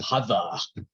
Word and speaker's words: Harvard: for example Harvard University we think of it as Harvard University but in Boston it was a Hava yeah the same happened